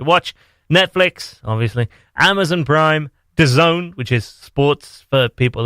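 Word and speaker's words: DAZN: I wanted to watch Netflix obviously Amazon Prime the zone which is sports for people who it's also the world's weirdest pronounced thing ever it's spelt Vaz N and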